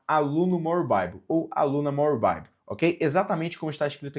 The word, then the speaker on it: More Bible: more Bible ou aluna More Bible, OK? Exatamente como está escrito aqui no nosso canal, More Bible. Se digita more bibly, mas se pronuncia more Bible, ok?